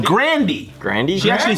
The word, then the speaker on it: Grande: Grande, it's pronounced Grandy. Grandy? She actually said that one time. It's not Grande?